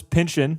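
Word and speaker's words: Pynchon: Um, this is Paul Thomas Anderson's second Thomas Pinchin.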